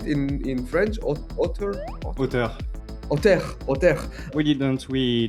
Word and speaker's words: auteur: In French, auteur, Auteur.